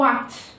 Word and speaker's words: what: زي كلمه وات معناها ما او ماذا، هنا الاتش جت سايلنت ما نطقتهاش عشان بعدها حرف الايه الاي وات.